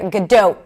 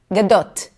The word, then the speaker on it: Gadot: stop of air - 'Gado', right, you don't hear anything there - 'Gado'. That doesn't happen in Hebrew: a T is a T as a T is a T - 'Gadot'.